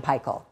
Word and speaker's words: Paykel: Which is why we call it Fisher and Paykel and not Fisher and Paykel or Fisher and Paykel. The pronunciation, of course, is based on where it was founded.